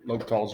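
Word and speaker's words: L'Hôpital: okay we'll do l'hopital's rule here and l'hopital's rule spelled funny l apostrophe it's about like this it's pronounced l'hopital sometimes you say s in there it's a rule that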